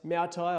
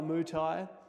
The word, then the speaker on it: Moutai: Um, pronounced Maai or Muai, Muai or Maai. If you're a white guy, just give it a try.